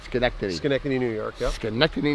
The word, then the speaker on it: Schenectady: I'm saying it right, Schenectady.